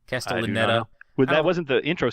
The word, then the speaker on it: Castellaneta: Castellaneta.